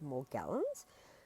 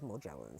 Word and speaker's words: Morgellons: And apologies, I'm fairly certain it's actually pronounced more gallons, but I only ever read the word like so I I it's coded in my brain as morgllins.